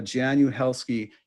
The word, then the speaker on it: Jaan Uhelszki: just a few i'm really happy to have janu helsky here with us today hi it's nice to